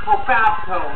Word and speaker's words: Cofabco: I'll spell that for you. K-O-F-A-B-C-O. Cofabco.